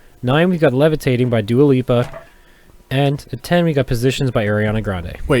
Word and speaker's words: Dua Lipa: right all right cool uh number nine is dua lupa dualipa how are you going to say it i've